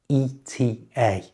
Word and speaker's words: ETA: Again, this one is always said using the letters. You'd never hear it said as the word ETA. Just ETA. Like this. What's your plane's ETA?